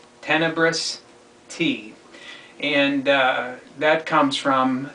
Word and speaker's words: Tenebrous T: pronunciation thereof anyway my name is to be pronounced tenebrous t tenebrous t and uh that comes from the word tenebrous